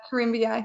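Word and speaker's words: Corymbia: panel um what's the difference between eucalyptus and Coria am I pronouncing that correctly yeah cormia yeah so there are three genus of eucalyp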